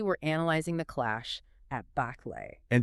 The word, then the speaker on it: Bắc Lệ: Specifically, we're analyzing the clash at Baklay. And just to jump in real quick, Yeah. Go ahead. Just to plant this in your mind right away, you pronounce that Blay. Baklay, right?